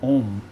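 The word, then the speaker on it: Aum: The word is spelled A-U-M, Om.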